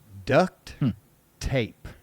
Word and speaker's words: duct tape: If I do not hear you put a T on duct tape, it's not duck like quack quack. It has never been ducted tape.